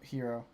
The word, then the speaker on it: Hiro: add that to it hero because i believe that is proper pronunciation yes you are we are yes in japanese okay that's what you